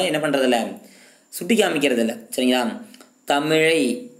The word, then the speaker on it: தமிழ்: சரிங்களா, தமிழை தமிழ் என்று தமிழை தமிழை அப்படிங்கிறது அந்த லகரம் அப்படிங்கிறது சில சிறப்பு லகரத்தை போட்டு சொல்கிறாங்க, சிறப்பு லகரம் போட்டு சொல்கிறாங்க சரிங்களா. அந்த மாதிரி சொன்னால் மட்டும்தான் அது சரியான உச்சரிப்பு, சரியான எழுத்து, சரியான மொழி சரிங்களா.